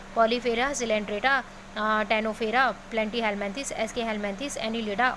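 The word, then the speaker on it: Ctenophora: प्रियंका चली के लिए सिलेंट्रेटा, कनाडा के लिए टेनोफोरा, हालांकि इसको टेनोफोरा बोलते हैं लेकिन सी साइलेंट होता है, तो इसीलिए कनाडा सी के लिए ध्यान में रहेगा।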